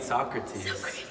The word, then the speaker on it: Socrates: I mean Socrates. Socrates. It's not Bill and It's Ted. it's Socrates. My pronunciation is very New York, bro.